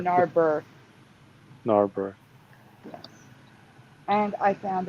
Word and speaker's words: Narberth: Am I pronouncing that Narbeth or correctly? Narber.